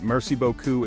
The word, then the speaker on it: merci beaucoup: To express gratitude, merci beaucoup is the most common and heartfelt way to say thank you very much. Remember to pronounce the R in merci and beaucoup with that slight guttural sound.